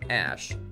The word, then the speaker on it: Æ: It would be interesting to know that the boy got a very interesting name, pronounced the letter X, and then the AE is like pronounced Ash, and then A12, known just as X.